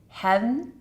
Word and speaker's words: heaven: Now, we want to make sure you can pronounce heaven as one syllable, heaven, so that we're going to count that as one.